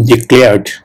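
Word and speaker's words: declare: করা হয়েছিল ওকে ডিক্লেয়ার এই ডিক্লেয়ারটা যারা বাঙালি তারা কিন্তু এটাকে উচ্চারণ করে ডিক্লেয়ার ডিক্লেয়ার কিন্তু একচুয়াল প্রোনাউন্সিয়েশনটা হবে প্রোনাউন্সিয়েশন মানে উচ্চারণ ওকে প্রোনাউন্সিয়েশন উচ্চারণ একচুয়াল প্রোনাউন্সিয়েশন হবে ডেক্লেয়ার ডেক্লেয়ার ডেক্লেয়ার ওকে সো হ্যাভ ইউ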